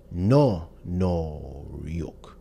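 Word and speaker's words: 노력: can clearly hear that noruk or effort is pronounced as no noruk with the O extended this is not just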